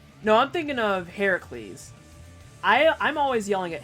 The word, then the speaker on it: Heracles: always said it wrong people were like no it's not Hercules it's like Heracles nothing really currently but